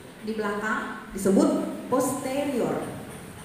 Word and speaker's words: posterior: Bukan anterior. Anterior. Jadi cara pengucapannya begitu ya. Tulisannya sama ya, tulisannya sama. Anterior. Tulisannya sama. Sama tulisannya, tapi kalau cara pengucapan bahasa Latin itu kita penekanan 3 suku kata dari terakhir ya. Jadi anterior, posterior, bukan posterior.